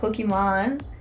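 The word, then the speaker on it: Pokimane: her name's pokem man and uh it's actually pronounced Pokemon because her name is Iman oh and she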